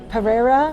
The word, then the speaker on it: Pereira: Pereira?